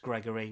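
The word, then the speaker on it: Gregore: That is Gregory spelled Gregor if you like, but pronounced Gregory with an E uh on the end.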